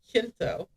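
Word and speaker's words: Jacinto: The English part of me wants to pronounce that as a hard J. J A C I N T O. Pinto. Huh? Shinto.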